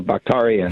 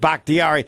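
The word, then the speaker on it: Bakhtiari: six games uh without uh bakitari uh well bakarian yeah there yes you Larry are a great fan but you really need to be able to pronounce David bhaktiari since he's one of the best players no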